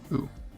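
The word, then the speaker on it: う: easiest one just because it's pronounced ooh like ooh and it's like a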